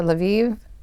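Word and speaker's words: Lviv: so next is uh laviv is that how you pronounce it correctly yes we discovered every city has three pronunciations the Polish the Ukrainian and the Russian and uh they don't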